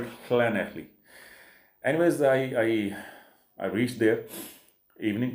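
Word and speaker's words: Llanelli: अगर इंग्लिश में उसको प्रोनाउंस करें तो बनता है लनैली, LANE, बट in Welsh they call it खनैखली।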